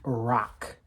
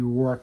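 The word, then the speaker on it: Roque: for watching peace just realized it's Abby Rock not Abby roor I messed that up it's not Ray Bor she's not even a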